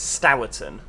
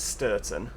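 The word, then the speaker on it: Stourton: area of leeds is stowerton everyone pronounces it sturton but i refuse to jump on that bandwagon it's s-t-o-u-r which is stower this is how you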